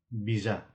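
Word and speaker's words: बिज़ा: मुसा, मुसालाई अङ्ग्रेजीमा र्याट भनिन्छ भने खाम भाषामा यसलाई बिजा भनेर भनिन्छ। यहाँ जामा नुक्ता प्रयोग भएकोले जालाई जा भनेर उच्चारण गर्ने।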